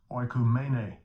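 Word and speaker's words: οἰκουμένη: Let's see how Esau pronounces it. Strong's G 3625, oikumene.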